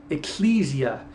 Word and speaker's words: ecclesia: about the community of Israel, it says the ecclesia, or if you want to pronounce it, ecclesia.